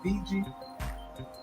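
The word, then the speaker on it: Bijan: was that B Robinson that's how you pronounce his name BG b i j a n yeah he works he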